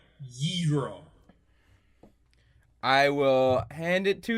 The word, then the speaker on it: gyro: And then there's actually a slight difference in the pronunciation, like you got to maybe it's just oh, you're right. That one is a ghee. No, ghee is clarified butter. It's more like a gyro.